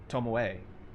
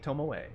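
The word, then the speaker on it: Tomoe: You have to pronounce the E in tommo. Tommoi. Tommoi. Tom. Yeah, sounds better. Um, B tommoay. Oh, tommoe. Tommoi. Tommoay.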